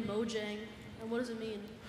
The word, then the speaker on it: Mojang: up with the name Mojang what does it mean it's a Swedish word if you spell it the same way but you have like two dots over there a it's mu yang which means gadget or